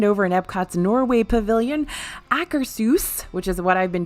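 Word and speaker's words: Akershus: has finally reopened over in epcot's Norway Pavilion acresus which is what I've been told is how you pronounce it not Acker shoes which I did for a long time not Acker Seuss or like Ackers hoose like house that's anyway that's open again there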